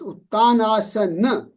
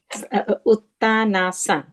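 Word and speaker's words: Uttanasana: So why are there is no bar at the top at the at the very end. Huh? No, it's it's utanasana. It's not as utanas.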